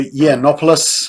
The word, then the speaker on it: Yiannopoulos: It also targets right-wing commentators like Milo Yiannopoulos, I think is how you say it, and other right-wing commentators, especially anybody who says only women can get pregnant.